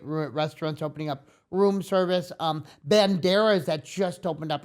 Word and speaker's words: bandera: Do you know how to roll your R's like bandana? No, bandera.